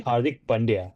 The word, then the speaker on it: Hardik Pandya: I don't know why everybody call maybe they're having they have a hard time, you know, pronouncing his name. Uh but it's it's it's really Hardik Pandya, not Hardik Pandya.